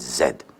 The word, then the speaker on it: Z: state of massachusetts then you would pronounce the last letter of the alphabet z but no you pronounce it zed you are canadian man